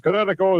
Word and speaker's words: Kinetico: You should have remembered kinetic as in kinetic energy with an O on the end. Kinetico.